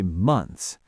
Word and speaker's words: months: For a word like months, a lot of native speakers don't even bother with the th sound. We just say months. Three months ago.